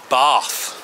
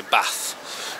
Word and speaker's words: Bath: foreign folks I'm going to be pronouncing the name of the place I'm in today wrong because where I am bath I find it very difficult to say that because I'm from the Midlands and we don't speak Posh we say bath so excuse me if